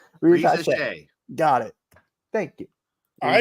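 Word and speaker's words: Risacher: I still can't pronounce it. Reza Shea. Reza Shea. Reza Shea.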